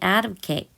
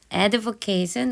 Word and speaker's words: advocate: 되면서 어떤 사람들은 may advocate advocate 우리 명사로는 advocate이라고 하시면 옹호자인요 advocate이라고 동사 형태로 발음을 하시면 옹호하다 지지하다 이런 뜻이 있습니다 주장을 하는 거죠 어떤